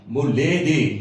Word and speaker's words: Moleli: That's how you write it, but when you spell it, it's Moleli. Moleli.